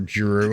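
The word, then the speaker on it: Jrue: Drew. It's not Rue. Or Drew. No, I mean, Drew. Like, to be fair, as Drew.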